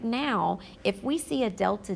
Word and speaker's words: delta: This triangle is pronounced delta, and it specifically means change. So anytime you come across this symbol in my class, we're always going to say it as delta, and the meaning behind